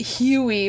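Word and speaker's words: Hewie: Can I mention that his name is, like, it's spelled weird. Like, you think Huey is, like, Huey, but it's H-E-W-I-E?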